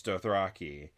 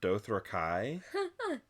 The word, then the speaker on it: Dothraki: okay, it's Dothraki, but apparently George R. R. Martin pronounces the word Dothrakai. And like he's like, no one's gonna look at that word and read it that way, so for the show it's gonna be Dothraki.